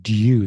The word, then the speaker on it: due: has been canell but we would say due this Y sound so there is actually